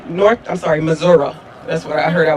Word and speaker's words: Missouri: Though they are electives, At least 6 states, Florida, Indiana, Missouri, Missouri.